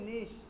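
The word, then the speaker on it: niche: নিশ এটা হচ্ছে কি নিশ বানানো হচ্ছে নিশ কিন্তু উচ্চারণ হবে নিশ কি হবে নিশ নিশ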